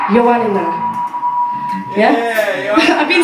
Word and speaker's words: Ioannina: I'm going to try and pronounce this place right. Ioannina. Yeah? Yeah, yeah. I've been saying Ioannina all week.